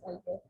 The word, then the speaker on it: albeit: अल्बेट का मतलब ये है वैसे albeit albeit और albeit I think the right pronunciation is albeit albeit मतलब all दो, ठीक है।